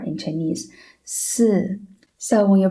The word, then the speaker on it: 四: you can feel that when you pronounce 四, you can feel your mouth is exerting a horizontal force, right? But it's gentle. While you say C, it's stronger. The horizontal force is stronger, right?